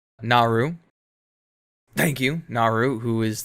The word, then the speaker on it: Naru: who i need to get the name right naru naru thank you naru who is this uh female